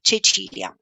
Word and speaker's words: Cecilia: a lot, it's like, it says Cecilia on the screen, but you just said something completely different. That's how I pronounce my name in Italian, so Cecilia.